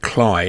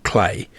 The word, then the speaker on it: Cley: This area is actually pronounced Cley, not Clay.